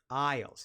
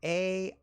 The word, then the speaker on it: aisle: Aisles. Now, take a look at this word, A-I-S-L-E.